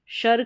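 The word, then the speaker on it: sure: जैसे एस यू आर ई इसको शर या शोर दोनों तरीके से आप प्रोनाउंस कर सकते हैं।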